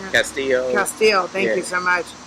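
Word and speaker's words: Castile: It's not Castro. Am I pronouncing it? Castillo.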